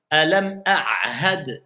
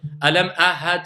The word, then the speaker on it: ألم أعهد: Alam ahad ilayk. Alam ahad, ou bien ahad, ou bien. Donc, il faut, moi, que j'entende le ayn, et il faut que j'entende le ha.